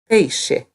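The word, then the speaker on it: peixe: we use for fish hey she hey she notice that the X sounds like hey she awesome so now you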